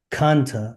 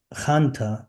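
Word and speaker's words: חנטה: Hebrew slang in everyday Israeli colloquial speech, Hanta, pronounced Kanta or Khanta, is used to dismiss something as nonsense, a scam, a hoax, or a complete lie.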